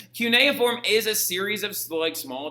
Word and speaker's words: cuneiform: So like it's cuneiform, okay?